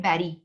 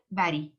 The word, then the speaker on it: bury: ये लफ्ज जो है BURY, इसको कहते हैं बैरी, प्रोनाउंस करते हैं बैरी।